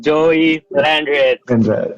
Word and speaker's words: Joey Landreth: Joey Landreth. Hey! Is it correct? Is it correct, the pronunciation?